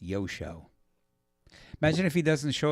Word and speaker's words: Joscho: Yeah, it's spelled like Joshko, Joscho, and it's pronounced Yosho. Imagine if he doesn't show up for a gig. What happened? Yosho was a no-show.